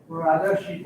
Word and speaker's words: Rajarshi: So this is, help me say his name right, Sandeep. Rajarshi? Rajarshi, but that's right. Yeah.